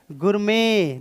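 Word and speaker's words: gourmet: आर एम ए टी लेकिन हम इसको बोलते हैं गुरु में इसकी जो प्रनंसीएशन होती है वो इसमें टी साइलेंट होता है इसको क्या बोलेंगे गुरमी और ये क्या होता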